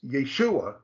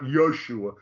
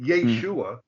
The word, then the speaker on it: Yeshua: local area in Hebrew in Hebrew as as we just saw it's Yeshua Yeshua not yahshua but Yeshua which nobody in the